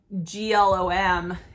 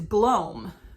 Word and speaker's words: glom: You know, can we think of like, would it rhyme with mom, glom, mom, just one O in the middle?